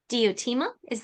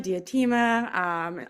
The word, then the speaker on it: Diotima: and the Mystery of Diotima. Am I pronouncing it right? people Diotima. can pronounce it diotima, diatima, either is fine.